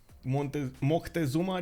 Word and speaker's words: Moctezuma: I've seen the correct pronunciation is actually Moctezuma.